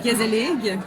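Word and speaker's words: gezellig: C'est un mot néerlandais qui veut dire cos mais nous on le prononce gazelig parce que on on parle pas le dodch.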